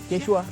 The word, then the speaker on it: Quechua: you called Quechua Quechua this is the right pronunciation.